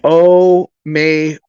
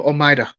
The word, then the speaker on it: Omayra: Normally, when she talks to white people or people not of Hispanic, she calls herself Omayra. But if you were Puerto Rican speaking Spanish, you Omaida. Omaida.